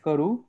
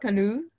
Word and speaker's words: karu: Alam kalu. So this pronunciation is difficult for me. Kalu. Karu. The second is like what we say in rupee. 1 rupee, 2 rupees. So okay.